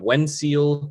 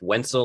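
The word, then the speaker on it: Wenceel: you traded short stop when seal or i guess it's pronounced wensel like pencil uh when still perez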